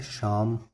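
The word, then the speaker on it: psalm: देखिए फ्रेंड्स, ये होता है, इसका प्रोनाउंसिएशन होता है शाम, इसका प्रोनाउंसिएशन होता है कोयर, ठीक है, कोयर, CHOIR, कोयर।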